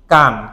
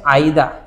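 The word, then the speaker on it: 間: মধ্যবর্তী ঠিক আছে আচ্ছা আর এটার উচ্চারণ এখানে কি কান কি কান জি এর সাথে আসলে এর উচ্চারণ কি কান এছাড়াও এর আরেকটা উচ্চারণ সেটা হচ্ছে আইদা সেটা কি আইদা আমার এবং তোমার মধ্যে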